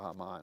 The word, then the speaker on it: Haman: the idea I'm not bowing before for you Hamman or or hmon as we pronounce it well angered by that Hamman somehow